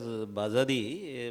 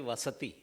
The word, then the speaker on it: Vasati: When Arjun was pronouncing, he was pronouncing as Bazadi, but it is actually Vasati.